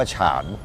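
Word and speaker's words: 禅: ซึ่ง คำ คำ เนี้ย ทาง จีน เนี่ย เขา ออก เสียง ว่า ฉาน อ่า ก็ คือ คำ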